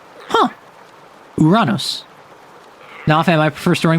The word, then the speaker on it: Uranus: See, like that Greek u is pronounced like Latin U. Latin u being pronounced u not you.